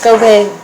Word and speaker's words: Gobert: Rudy Gobert. Did I say it wrong? Gobert.